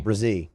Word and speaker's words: Brazil: bro what is it Brazil Brazil Brazil like a Brazier yeah but Brazil without the ear if people are pronouncing